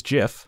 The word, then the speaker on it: GIF: or into images and gifs and yes it's pronounced Jeff fight me so that way we can share with the world there's two ways you can do this if you're a choosy artist that chooses jiff you want to go to file export animation